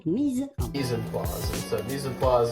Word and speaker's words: mise en place: In English or American, you could say mise en place. Mise en place. But in French, typical French pronunciation, mise en place.